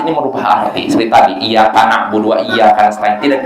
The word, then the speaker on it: iyyaka: Nah itu kalau ya-nya ditekan, dan ini yang benar. Tapi ada orang yang bacanya iyyaka na'budu wa iyyaka nasta'in, ini artinya fatal sekali, salah sekali. Karena kalau tanpa ditekan, iyaka artinya cahaya matahari.